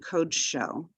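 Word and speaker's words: קָדְשׁוֹ: So kod shecha and kod sho. So the accent is not on the code, and it's a closed syllable. It ends with that with the consonant dalet and the shava together.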